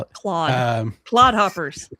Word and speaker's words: Claude: Claude. Claude hoppers. Claude. Like claw. It's your Canadian accent coming out. Well, it's spelt like a Frenchman's name, so I'm going to say it like a Frenchman.